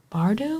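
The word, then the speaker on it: Bardugo: I read Hellbent, which is the second Alex Stern novel by Lee Bardo, I think is how you pronounce her last name.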